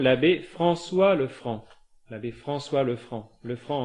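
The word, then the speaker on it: Lefranc: l'abbé François Le Franc le franc en un seul mot comme ça se prononce vicaire général à Coutance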